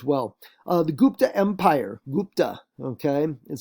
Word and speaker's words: Gupta: world uh as well uh the gupta empire gupta okay that's how you pronounce it and uh that shows up around